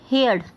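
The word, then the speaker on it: heard: First है हमारा आज का वर्ड हेयर्ड। ओके, हर्ड बोलते हैं इसको, बट मैं आपको हियर्ड बोल रही हूँ जिससे कि आपको स्पेलिंग लिखने में प्रॉब्लम ना हो।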